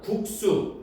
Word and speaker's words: 국수: 한자어에서 리을 받침 뒤에 연결되는 드스즈는 된소리로 발음한대요. 자, 그럼 1번부터 해봅시다. 우리 봐봐. 가 있으면 이거 합니다. 가를 바탕으로 하면 국수.